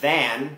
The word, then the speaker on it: than: คำ นี้ นะ ครับ than then then then แต่ ใน ภาษา พูด ก็ ไม่ ค่อย ต่าง กัน เท่า ไหร่ นะ ครับ จริง ๆ แล้ว คำ